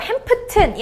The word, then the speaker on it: Hampton: 나왔으니까 살짝 약하게 Miss Sally Hampton 할 때도 P 살짝 약하게 해주세요. So, Hampton이 아니라 Hampton이라고 읽으시면 됩니다.